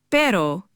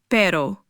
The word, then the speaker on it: pero: First up is the single R. This isn't like the English R. It's a soft quick tap of the tongue against the roof of your mouth. Similar to the t sound in the American pronunciation of butter.